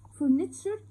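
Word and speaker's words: furniture: فرنيتشر عفش او اساس، وبرده خد بالك من المقطع الحروف تي وار اي.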